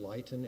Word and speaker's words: Luyten: I think it's pronounced Luyten, L-U-Y-T-E-N.